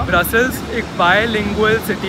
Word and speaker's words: Brussels: उनमें से एक है ब्रसेल जो उनका डच ओरिजिनल प्रोनाउंसिएशन है। एक है एक्स के साथ वो फ्रेंच प्रोनाउंसिएशन है और ब्रसेल्स जब आप एंड में एस लगाते हो वो इंग्लिश प्रोनाउंसिएशन है।